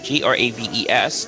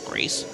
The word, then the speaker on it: Graves: Well, for starters, if you notice her opponent, and her name is Shanice Graves, pardon my French, Graves, not Grace.